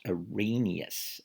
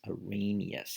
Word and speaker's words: Arrhenius: he's a pretty big guy in chemistry it's pronounced arrhenius arrhenius he was swedish and his definition of an